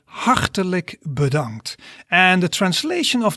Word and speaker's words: hartelijk: So in Dutch you would say hartelijk bedankt. So you pronounce that into a few syllables.